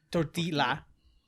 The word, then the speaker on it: tortilla: No, tortilla.